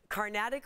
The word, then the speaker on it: Carnatic: You also like to play the Carnatic flute.